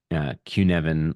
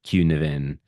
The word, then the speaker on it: Cynefin: Sin, Yeah, it is spelled Cynefin, and it's pronounced. You'll have to forgive me. My Welsh is a little rusty. Uh, Cynefin or Cynefin, which is again not how it sounds.